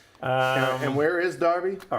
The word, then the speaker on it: Derby: Pronounce that again. Darby. Darby. Not Derby.